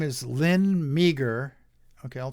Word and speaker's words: Meagher: A quote-unquote Christian woman, her name is Lynn Meager. Okay, I'll spell that for you.